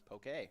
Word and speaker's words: poke: dish called poke by the way it is pronounced poke yeah yeah just to give you guys the correct pronunciation I always said uh Pokey but I always said Pokemon and I I